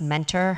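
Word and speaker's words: Muenter: and Olivia Mentor it's spelled mtter but it's pronounced Mentor her book is called such a bad influence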